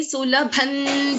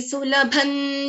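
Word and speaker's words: सुलभं: and in that case, this Anuswara gets replaced by the 5th letter of this Tavarga, because Dha comes under Tavarga. So which is the 5th letter of Tavarga? Na. So I'm pronouncing this as Bhakti Sulabhan Dhyayasva Narayanam. Bhakti Sulabhan Dhyayasva Narayanam. So there is a Na, that is the Panchama, Varga Panchama of Tavarga is Na.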